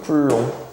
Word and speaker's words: 쿨롱: C 라고 쓸 거고 얘를 읽을 때는 쿨롱이라고 읽어주 쿨롱 쿨롱이라고 읽어 준다 자 읽을 때는 쿨롱 그래서 얘 단위가 뭐야